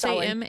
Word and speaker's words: Samhain: Samhain, is that how you say it? It's Samhain.